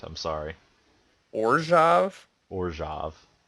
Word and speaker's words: Orzhov: the Pro Tour Gate Crash coverage, you would know that it's actually pronounced Orjov.